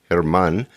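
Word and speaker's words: Germán: His patients call him Herman. And it's pronounced Herman, and it's spelled German, okay, German. But the G is silent in Spanish, and so that's how they pronounce it, Herman.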